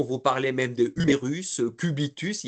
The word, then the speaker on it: cubitus: Et ne pas oublier que dans certains vocabulaires techniques, quand on a un S, on le prononce, on dit euh unérus, cubitus, radius.